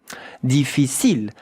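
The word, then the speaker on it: difficile: You know in French that ends with an e. Deficil. Look at how to pronounce it. Really easy. Three syllables.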